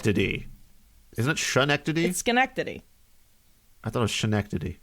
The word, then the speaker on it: Schenectady: is it shrine activate Schenectady I thought ocean equity it's not shit it's Schenectady okay I'm pretty sure no I've only ever heard it pronounced Schenectady but I don't know